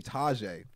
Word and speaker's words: Tajai: see so it's actually so it's actually tajai okay okay I like taijay too but Taj is what I would I go by yeah you know what